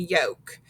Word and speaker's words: yolk: that silent l and silent l follows vowels a o and u and when that happens the l is silent so we have words like calf salmon chalk and yolk do you hear how we never heard the l sounds in those and when we